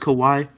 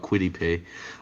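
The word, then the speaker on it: Kwity Paye: pay kawaii pay well too bad it's not pronounced kawaii but i agree with you because you're talking about quittipe um i agree he's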